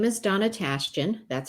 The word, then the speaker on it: Tashjian: service to um well my name is donna tashton that's how you say it everybody wonders how